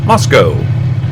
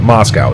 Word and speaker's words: Moscow: fact I know ho has a name called Moscow it's spelled exactly like Moscow if I remember we you don't pronounce it Moscow it's mosco 99% sure I have been through